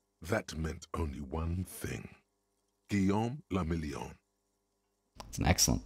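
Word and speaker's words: Guillaume Le Million: meant only one thing guillaume lamillion that's an excellent name rather shawl and if it doesn't rhyme you're not pronouncing it right again because our drama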